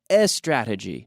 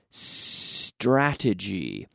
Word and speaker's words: strategy: strategy that's right strategy now be careful not s strategy no strategy beginning with the lips the S in my lips not in my vocal cords okay strategy gia telefónica